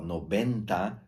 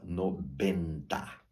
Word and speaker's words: noventa: t enta noventa ó noventa tem a v de vaca soará b de bola no Benta tá E chegamos então